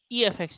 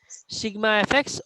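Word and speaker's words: Σfx: Some of you used to pronounce as efx. It is not efx, sigma fx or summation fx.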